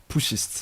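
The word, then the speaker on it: putschists: This word you can help me pronounce, P-U-T-S-C-H-I-S-T-S. Pushists, right? Yeah.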